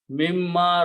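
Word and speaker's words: مِمَّا: Mimma razaqakumullahu.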